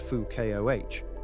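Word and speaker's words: Foucault: like any good physicist Fuko pronounced Fu Koh understood Newton's laws and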